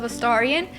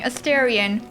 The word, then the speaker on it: Astarion: You might have noticed also, I've switched my pronunciation of Astarion because I had been saying Astarion up until this point. But whenever I hear quips, it sounds like they're saying Astarion. But I don't have a British accent, so...